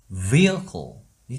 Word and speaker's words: vehicle: 이것은 vehicle이 되는 거예요.